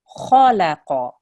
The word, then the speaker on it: خلق: So this is kha, kha, and it's a thick letter. So you have to make your mouth round. You have to make a thick sound. Khalaqa, right? When you're doing it in waqf, it's khalaq.